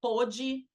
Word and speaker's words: pôde: Aí tem o pode presente, que é uma pronúncia aberta, e tem o pode passado, que é uma pronúncia fechada. É lógico, né, que se eu tenho um advérbio, ele não pôde ontem, né, fazer uma tarefa.